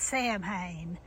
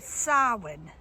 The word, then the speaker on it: Samhain: It's spelled Samhain, so it looks like it's Samhain, but it's Samhain.